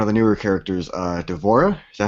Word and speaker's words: D'Vorah: we got one of the newer characters uh d'vorah is that how you pronounce that yep y I did watch her